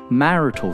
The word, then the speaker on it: marital: Marital status. The stress in marital is on the first A. Marital.